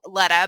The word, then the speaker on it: Letta: So I renamed her name to Letta because I thought Letta rhymes with Carletta.